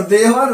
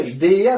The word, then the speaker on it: there: Okay, तो ऐसा यदि आपका प्रोनाउंसिएशन होगा तो आप सही कर लीजिए, देयर ही पढ़ेंगे ना कि देवर एंड देवघर नहीं पढ़ेंगे।